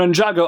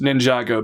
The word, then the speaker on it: Ninjago: Pretty much everyone said Ninjago like it's 2 separate words instead of one, Ninjago.